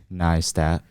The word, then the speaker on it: Neistat: Neistat.